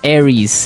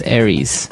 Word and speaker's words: Aries: And um so it's pronounced Aries. Aries.